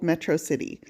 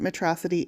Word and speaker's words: Metro City: movie, you know that the villain in the film refers to the city as metrocity. So every time I see the word metrocity, I'm going to pronounce it metrocity.